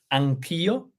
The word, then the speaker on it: Anch'io: Anche io, but Mark removed the E, which makes it better, not just better, but also easy to pronounce. Anch'io, you completely neglect the E when you pronounce.